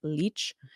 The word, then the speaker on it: Leitch: Leitch Yes.